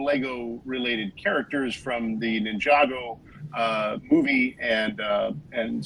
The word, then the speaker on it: Ninjago: Ninjago actually is the pronunciation.